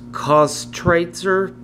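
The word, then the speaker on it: Köstritzer: I butcher this name I believe it's pronounced cost Tracer uh schwarzer beer Germany's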